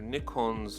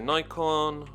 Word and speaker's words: Nikon: color scheme unique to Nikon's online store. Now I know some people say Nikon, but it's pronounced Nikon in Japan, and as far as I'm aware, it's also Nikon in the UK.